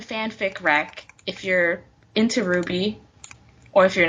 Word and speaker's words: RWBY: But it's pronounced RWBY? Yes, correct. Because The main character's name is Ruby, but also their team name is Ruby, like RWBY, because it's Ruby, Weiss, Blake, and Yang.